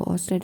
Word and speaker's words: Ørsted: देखो ऑस्टेड है क्योंकि इसमें आर साइलेंट है, जो कि थे 1777 से 1851.